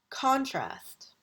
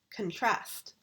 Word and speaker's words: contrast: When we use it as a noun, we put the accent on the first syllable. Contrast. Contrast. Contrast. Here we are going to use it as a verb. Contrast.